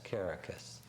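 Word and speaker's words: Kerekes: Spell it for us. K-E-R-E-K-E-S, Caracas.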